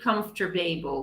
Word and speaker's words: comfortable: one come for table table comfort table quantization comfortable comfort table comfort table or vegetable no tank